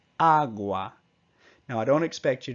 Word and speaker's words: agua: So instead of agua, it's agua.